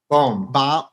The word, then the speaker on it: Bohm: Bohm.